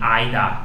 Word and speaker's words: either: Muita gente fala either e neither também. É uma pronúncia também aceita, vai de cada, vai do lugar. Either e neither, tem aida, naida. Eu não falo assim, eu acho muito ardido. Aida, naida. Parece meio alemão, parece um soldado nazista falando.